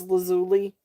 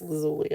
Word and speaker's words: lazuli: So, lapis um was it lapis lazuli? Is that how you say it? Lazuli or is it lazul? Yeah, it's lazuli.